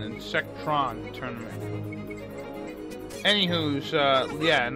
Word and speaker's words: Insectron: is called insect or apparently I've been saying it wrong the entire time then the little bugs are cold in sectors and the whole thing is called an insect Ron turn any who's yeah